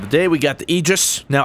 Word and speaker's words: Aegis: day we got the egis now I was told it was pronounced egis I totally would have butchered it otherwise had no one told